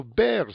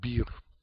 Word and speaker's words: Beer: on later date if we'll have to now bear slow not beer it's not beer a bear was in german name so we pronounce barrett in german i don't care how